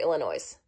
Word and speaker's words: Illinois: the road this is Illinois where I grew up yes my name is Illinois and I need an airline ticket too well Illinois nope the S is silent protip don't say Illinois's it's Illinois see these